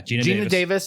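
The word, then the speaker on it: Geena Davis: Gina? Yeah, Gina Davis as Veronica.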